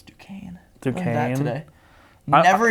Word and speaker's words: Duquesne: It's Duquesne. Duquesne. Learned that today. Never in my life have I been able to pronounce that.